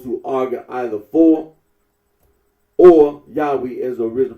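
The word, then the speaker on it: Yahweh: that of those who regard this name as anciently pronounced yahwe like the Samaritans now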